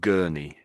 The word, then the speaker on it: gurney: Oh, and it's pronounced gurnie.